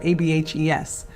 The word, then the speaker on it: ABHES: or ABHES, pronounced Ab-Hes, the Accrediting Bureau of Health Education Schools.